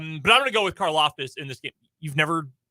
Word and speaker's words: Karlaftis: It is Karlaftis. That is confirmed by the NFL media guide. Like you want to live in a loft. Yeah, like Ann Taylor's place. But I'm going to go with Karlaftis in this game.